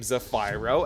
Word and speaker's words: Zephyro: Once again, yes, I pronounce his name Zephyro, as in Pyro, because he is the savage white flame, and you can't get mad at me because Herta calls him Zephyro, and Kafka calls him Zephyro.